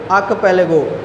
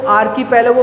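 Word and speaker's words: archipelago: तो these stories are all from Andaman and Nicobar आर्कपेलेगो। इसको आर्कीपेलेगो मत बोलना कोई, इसका अगर करेक्ट प्रोनाउंसिएशन है आर्कपेलेगो, ठीक है ना।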